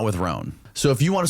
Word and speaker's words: Rhone: And on top of that, all my other clothes are always wrinkled, not with Roan.